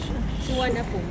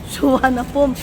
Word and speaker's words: Suvarnabhumi: Suwanapum. Suwanapum. Yun daw ang dapat. Pero yung spelling, spelling, iba. Suvarnabhumi.